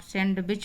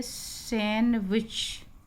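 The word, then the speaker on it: sandwich: खाया हुआ सैंडविच आप सैंडविच बोलते सैंडविच नहीं बोला जाता है इसको हम बोलेंगे सैंडविच कि जो नाश्ते में हम खाते हैं तो इसको सैंडविच नहीं आगे से आप सैंडविच बोलेंगे या नहीं डिप साइलेंट उसी तरह से यह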